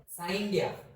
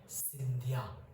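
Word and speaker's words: Scindia: किया था, सिंधिया ने साइंडिया, ओके, और से इसको प्रोनाउंस कैसे करते हैं? सिंधिया। क्या? सिंधिया लिखा ऐसे है, लेकिन इसको प्रोनाउंस कैसे करते हैं? सिंधिया।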